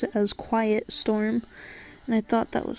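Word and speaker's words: QYT Storm: then storm after it and he would always pronounce it as quiet storm and I thought that was so cool so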